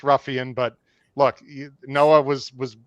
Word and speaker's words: Ruffian: Uh that it is it is pronounced Ruffian. But look, Noah was was born in 2000 or 200 what 2004. So let's give let's give the young man a break. Uh but anyway, it is Ruffian.